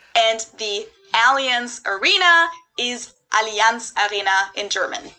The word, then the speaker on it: Allianz: about to learn something most americans call it alliance but the correct german pronunciation is allianz okay see yeah allianz i i really didn't